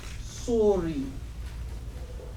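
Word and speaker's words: صور: And so they're pronouncing in this particular one, it's a noun, and it's pronounced suri.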